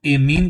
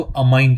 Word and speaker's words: amine: एक इसको ऐमीन कहते हैं। ठीक है? या फिर इसको अमाइन कहते हैं। ठीक है? हम लोग जो है ना वो इसको अपनी तरफ से अमाइन ही प्रोनाउंस करते हैं।